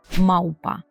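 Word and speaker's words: małpa: чітке в попольську бендія в так наш головний звук в і це буде маупа маупа пам'ятайте що слово маупа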